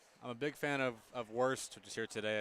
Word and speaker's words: Wurst: I'm a big fan of Wurst, which is here today. It's it's spelled W-U-R-S-T.